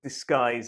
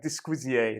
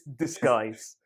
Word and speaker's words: disguise: g u i now uh listen to the pronunciation of that word disguise it looks like disquizier doesn't it but it's disguise yes disguise not dysquisio yes and what this expression means